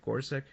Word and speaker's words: Gorsuch: Is it Gorsuch? So is this how you pronounce him? Yes, indeed.